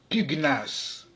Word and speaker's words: pugnace: Dans tous ces mots, le G et le N se prononcent séparément, alors qu'en général, le GN se prononce comme dans agneau, comme dans igname, ou encore ignorer. On prononce donc pugnace, stagner, gnome, agnostique, magna.